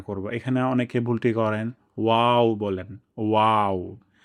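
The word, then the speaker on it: واو: এখানে অনেকে ভুলটি করেন, ওয়াও বলেন, ওয়াও। প্রথমে আমরা ঠোঁটকে গোল করব, তারপর আমরা যখন হাসি দেই, হাসি দিলে আমাদের ঠোঁটগুলো যেভাবে ছড়িয়ে যায়, ঠিক তেমনভাবে ওয়াওয়ের ক্ষেত্রেও ঠোঁট ছড়িয়ে যাবে।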